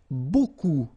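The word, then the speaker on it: beaucoup: huh Buu like that remember you don't pronounce the final P okay and then you get this combination of vowels uh a u and you get the sound o so technically it's okay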